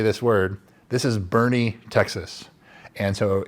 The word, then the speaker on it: Boerne: This is Boerne, Texas.